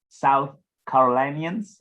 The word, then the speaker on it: South Carolinians: And how do you make sure as well, South Carolinians, I don't know if that's how you say it.